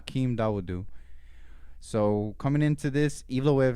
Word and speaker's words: Dawodu: Dawoda. Dawodu? You talking about the Nick Lentz fight? That's how you say It's it? pronounced Dawodu, yeah.